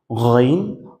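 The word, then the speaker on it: غين: ওকে, এরপর 3 নম্বরে ছিল শেষ থেকে, মানে শেষ থেকে গইন, খ, গইন, খ। আপনি যদি গইন, খ বলেন তাহলে দেখবেন শেষ থেকে উচ্চারণটা হচ্ছে, এখান থেকে উচ্চারণটা হচ্ছে।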